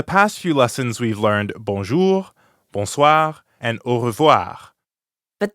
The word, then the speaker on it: bonjour: And we practiced the French R at the end of bonjour, bonsoir, revoir, At the beginning of revoir, too. and the je sound in bonjour, je, jour.